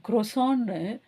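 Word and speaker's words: croissant: மாட்டோம் ஆனா இங்க பாருங்க ஜெபத்ரியான் குரோசான் பிரெஞ்சுல வந்து அந்த டி ப்ரொனௌன்ஸ் பண்ணாததை இங்கிலீஷ்ல ப்ரொனௌன்ஸ் பண்றாங்க குரோசான்ட்ன்னு சொல்லிட்டு வெல் எனிவே ரெண்டு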